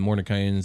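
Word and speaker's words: Mordenkainen's: Yeah, the Mordekainen's.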